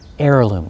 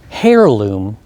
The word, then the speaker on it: heirloom: it's a noun heirloom heirloom like the air we breathe heirloom not hair loom but heirloom so what do i